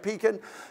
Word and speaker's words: Pekin: You know, if I go out, is it pronounced Pekin? It is? Okay, I want to make sure I get it right, Pekin.